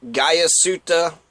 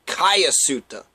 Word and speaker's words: Guyasuta: His name looks like Guyasuta, but phonetically, supposedly, it's supposed to be pronounced Guyasuta. Guyasuta, Guyasuta. Guyasuta or Guyasuta. I'll try to say Guyasuta, Suda. That's what I think it is.